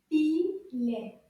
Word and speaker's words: filet: Filet. Let's count the syllables. Filet. Filet. Did you say deux syllabes? You're correct. Filet.